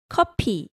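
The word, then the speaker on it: 커피: say stop kidding it's copy copy copy change that f sound to the p sound because in korean there's no f sound so say that again copy copy so let's say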